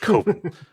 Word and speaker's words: Coven: Coven. Yeah, it's pronounced Coven.